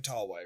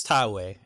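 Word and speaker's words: Taue: oh absolutely not no think about my terrible pronunciation of all like i am i'm guaranteeing that i am saying tallway wrong oh sure i think it's thai way it okay i know enough about japanese pronunciation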